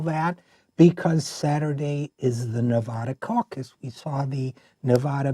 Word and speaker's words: Nevada: Reid or anybody else will tell you is pronounced with a a flat a so Nevada you say Nevada I say Nevada let's call